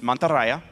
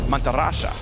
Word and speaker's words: Mantarraya: So in Spain's Spanish, it's Mantarraya, right? You pronounce the Y normally. In deep South America, the Y becomes an SH sound. So it becomes Mantarrasha.